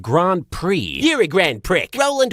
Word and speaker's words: Grand Prix: in the grand prickers You're a grand prick I think it's pronounced Grand Prix You're a grand prick